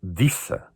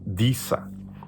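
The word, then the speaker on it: Desa: Há um nome que eu também acho muito interessante, que é um D-E-S-A. Pronuncia-se Dissa.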